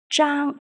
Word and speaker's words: Zhang: The character zhang follows the first tone, so it is pronounced as zhi, ang, zhang.